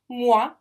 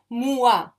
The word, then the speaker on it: moi: So anytime you see these phonemes, like moi, it's just one syllable, it's not moi.